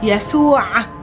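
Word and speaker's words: يسوع: Yasu'a. Remember, there's a ayn sound at the ending.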